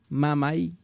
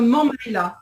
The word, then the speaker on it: Mammaïla: toujours un concept donc qui s'appelle Mamai, si je me prononce bien. Hein. Ah oui, d'accord, l'orchestre Mammaïla.